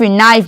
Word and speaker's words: knee: KNIF, नाइफ, मतलब छुरा।